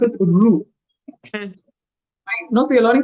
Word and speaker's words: rue: Rue is pronounced as Rue.